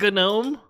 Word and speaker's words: GNOME: Looks like GNOME. You just got GNOME'd. Yeah, technically this is, I guess, this is GNOME terminal. You don't pronounce the G.